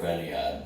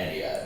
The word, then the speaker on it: Ennead: Order of Eniad, I think it's pronounced Eniad.